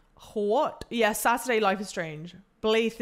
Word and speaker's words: Blaidd: Blaith is how you say it.